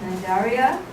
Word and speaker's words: Cnidaria: And the pronunciation is also correct, Cnidaria.